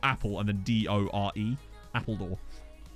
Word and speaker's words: Appledore: Used to go there a lot as a kid because it was near Appledore.